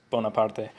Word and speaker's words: Bonaparte: war and peace because the Italian pronunciation of Bonaparte is bona pod bay and he hated that